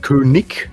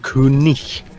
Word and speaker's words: König: Ausnahmen, wie zum Beispiel Namen, die auf IG enden, werden nicht ich ausgesprochen, sondern ich. Genau. Also jetzt nicht König, das ist falsch, sondern König. Es sei denn, du sagst Königreich, dann kannst du ich sagen.